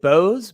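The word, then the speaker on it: Boese: right i pronounce it bose but the german pronunciation is more like bosa i think or both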